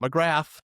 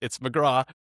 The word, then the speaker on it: McGrath: If you watch the episode, it's not McGrath. It's McGrath. It's the right way to pronounce her last name.